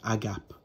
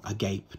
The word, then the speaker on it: agape: And a Greek translation of the word charity is agape, or agape, depending on how you pronounce it, or agape.